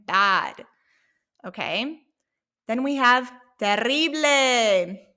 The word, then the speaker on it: terrible: Then we have terrible. Notice how I roll my R. You don't have to roll your R, but if you want to